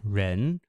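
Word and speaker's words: 仁: can see that it's pronounced Ren first tone or sorry second tone um that Rising tone Ren uh means humaness benevolence kindness so in this case we have the radical showcasing not only the meaning but also the pronunciation because the the character for human or Ren is also pronounced second tone uh yeah this is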